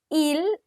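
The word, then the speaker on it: ils: Il, just avoid this S, okay?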